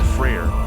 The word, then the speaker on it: Freyr: his sister nerfus prayer freyr also known as fry or freyr is a God in